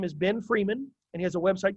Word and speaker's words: Freeman: Again, Freeman, like free man, pedia, like Wikipedia, just the last 2 or 3 syllables.